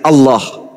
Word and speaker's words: Allah: Kalau menggunakan ejaan tajwid, maka bacaannya Allah. Gak ada huruf O di situ. Ini juga kesalahan orang-orang yang membaca huruf Arab menggunakan kata huruf O. Tidak ada huruf O dalam bahasa Arab.